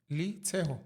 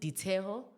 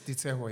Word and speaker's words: Liteho: Liteho? Yeah, Liteho. Okay. But apparently you pronounce it Diteho, but you spell it with an L. Yeah, he's Sutu. It's Diteho, yeah.